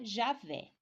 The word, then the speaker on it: Yahweh: Com o acréscimo dos vocálicos, tem-se a transmissão Yahweh para o português, que se pronuncia Javé, forma preferível ao nome Jeová.